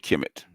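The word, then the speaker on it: Kemet: right now no we we call it kimit because we call we we pronounce the chemic because that's what was inscribed on the uh on on the release kmt yeah suicide to purchase at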